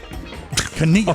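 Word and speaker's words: Chania: No, the pronouncer. The pronouncer. K small a dash capital N-I-Y, nothing else but lowercase double A. Oh, yeah. Jesus. Kania.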